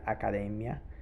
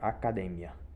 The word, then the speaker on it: academia: Veja que essa palavra acadêmia em espanhol é uma palavra heterotônica, ou seja, e ela pode ser uma sílaba tônica diferente da que tem em português, né? Não é academia em espanhol fica acadêmia. Então, lá real acadêmia espanhola